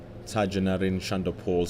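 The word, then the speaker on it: Tagenarine Chanderpaul: Tajanarine Shandapol scoring 78 runs in his first innings.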